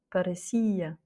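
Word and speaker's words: parecia: Donc effectivement, il y a le i à la fin, mais comme il n'est pas entouré de deux consonnes, c'est bien deux voyelles qui se suivent, alors c'est l'avant-dernière voyelle qui prend l'accent tonique. Parecía.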